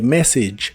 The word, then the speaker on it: message: usaremos las palabras my message que significan mi mensaje no se pronuncia ningún sonido a en esta palabra el final es el sonido I corto y el sonido J